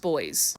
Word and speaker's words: Boise: It's spelled Boise, but it's pronounced boys.